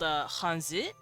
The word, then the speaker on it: Hanzi: Yes, China and Japan actually use the same writing system called Hanzi, although the Japanese pronounce it kanji because Chinese and Japan are different languages, so they pronounce things a little differently.